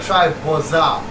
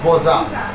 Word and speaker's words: boza: So, this is my brother Atanas told me I'm gonna try boza. Do I pronounce it right? Yes. How do you say boza?